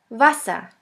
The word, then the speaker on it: Wasser: The German word with the letter V is Wasser, Wasser, which means water. The next letter is X, X, which is pronounced like the X in the word xylophone.